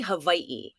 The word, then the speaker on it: Hawaii: you pronounce it properly it's actually hawaii hawaii is like yeah hawaii but um because there's like a little thing glottal stop we call it okina between the two eyes so yeah nobody else